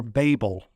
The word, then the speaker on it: Babel: by implication, building the Tower of Babel or Babel. You may prefer to pronounce it.